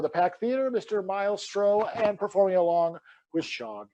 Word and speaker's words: Stroth: Your husband just pronounced my last name Stroh. Hans, you suck fucking balls, Stroth.